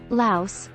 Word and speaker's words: Laos: Laos, pronounced without the S, a landlocked country in Southeast Asia, has a history of using silver and copper coins as currency.